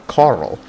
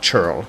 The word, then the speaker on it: ceorl: Saxon call it a Carl, and it's where we get that word, but in here they call it a churl, like churlish, things like that.